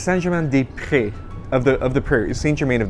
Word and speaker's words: Saint-Germain-des-Prés: I'm going to pronounce that correctly. It was close. It's Saint-Germain-des-Prés of the prairies, Saint-Germain of the Prairies is the Okay, name.